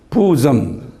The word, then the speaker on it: bosom: 스펠링 B-O-S-S-O-M인데 그걸 발음을 bosom 이렇게 발음하는데요.